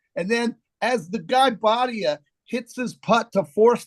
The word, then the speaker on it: Bhatia: So Bhatia was it's Bate is how they pronounce his last name, JC.